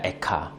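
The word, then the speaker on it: איכה: 이 슬프다라는 말이 히브리어로 에카입니다. 에카.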